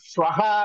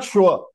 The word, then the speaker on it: श्वः: इसलिए मैंने पूछा ह्यः श्वः श्वः अद्य अभी ह जब आप बोलते श्वः तो आप प्रोनाउंस कर रहे हैं ना विसर्ग पर श्वः इट इज नॉट श्व इट इज श्वः अद्य श्वः परश्वः प्रपरश्वः